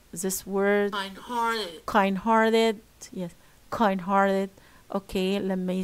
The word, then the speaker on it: kind-hearted: but as you see it's made up of uh two words the first word is an adjective and the second is an eeg word will be only put stress on the second word on the second word